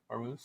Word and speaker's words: Hormuz: Is that how you pronounce it? Hormuz? I think so. Hormuz.